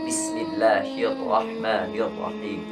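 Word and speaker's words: بِسْمِ اللَّهِ الرَّحْمَٰنِ الرَّحِيمِ: Biasanya kesalahan yang terjadi dalam pengucapan huruf ro ini itu terlalu bergetar, terlalu banyak. Karena ro ini 2 getaran. Bismillahirrahmanirrahim. Bismillahirrahmanirrahim. Jangan sampai Bismillahirrahmanirrahim. Itu terlalu banyak, terlalu bergetar.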